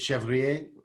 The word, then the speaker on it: Chevrier: yeah like mine is chevrier if you want to get french you know you don't pronounce the last r um but in fact